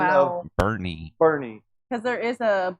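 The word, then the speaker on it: Boerne: I would say born, but I guess it's not. Bourne is not correct. You Bo. Nope. Also incorrect. Boernie. Boernie. Hold. What? What did you just say? Whoa, whoa, whoa. What did you say? I said Boernie. Oh, no. I thought she said I think Hang on. Do we have anybody else in here? Anybody? Anybody? Oh, Cine. Bernie. Bernie. Oh, wow.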